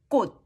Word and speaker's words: 꽃: Instead of releasing that ch sound, just put your tongue there and stop. Kot, don't release. Don't release kot. Kot.